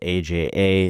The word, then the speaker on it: Aja: It's spelled AJA, it's Aja, and his brother Dawood, who are now facing unimaginable grief and unexpected financial burdens.